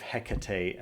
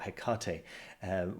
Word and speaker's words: Hekate: All right, moving on to news from Jason Miller, whose latest course, The Sorcery of Hekate, or Hekate, depending on how you like to pronounce it, has just started again.